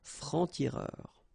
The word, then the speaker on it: francs-tireurs: Un franc-tireur, and then plural form, exactly the same rule, des francs-tireurs.